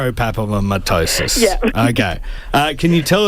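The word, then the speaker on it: fibropapillomatosis: Amanda, I'm going to try and uh pronounce the disease. It's fibrop a pillattosis. Not quite there. So, it's fibrop fibropapomattosis.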